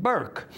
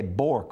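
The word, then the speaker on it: Bourque: And they pronounce it Burke.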